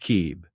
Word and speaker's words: Cib: It's gly called yellow cab pronounced kib represents divine or heart logic.